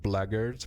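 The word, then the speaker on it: blackguard: passage what say you I know it's pronounced blaggard but I refuse to pronounce it that way it sounds dumb I'll do it updated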